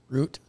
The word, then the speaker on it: Root: very true Mr Ro root yeah exactly it's root like foot root root like foot I've heard you in